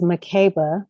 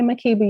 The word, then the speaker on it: Makeba: of my life 49 this is the first time that you are hearing someone pronounce it as mccabe my name is swahilin and then the swahilian dialect that's how you pronounce it so if you call